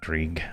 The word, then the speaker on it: Grieg: Greg Zind is right up here. Uh, Grig. I say Greg, but it's Grig from what uh what the uh pronunciation things are.